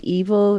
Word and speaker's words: EVOL: And so there's another song on it that I love as well, called Evil. It's spelled EVOL, which is love backwards.